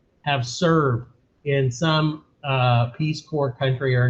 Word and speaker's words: Peace Corps: oldest friends is considering joining the peace corps that's how you pronounce that word as you guys probably